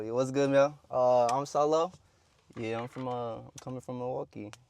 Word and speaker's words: $0L0VV: yeah, it's pronounced Solo. Just Solo on its own.